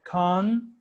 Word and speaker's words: content: So for example, the word, this one, I can stress the first syllable and I say content.